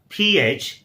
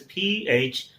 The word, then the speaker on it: phlegm: So here it is, PHLEGM. It's a phlegm, exactly rhyming with stem.